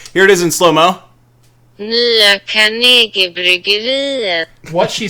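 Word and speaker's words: Nya Carnegiebryggeriet: Nya Carnegie Bryggeriet. Yeah. Here it is in slow-mo. Nya Carnegie Bryggeriet.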